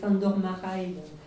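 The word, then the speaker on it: Márai: le passage autour de s'endormirai sur la bonne question bon vous connaissez pour la plupart d'entre vous s'endormira et je le prononce à la française qui qui est l'écrivain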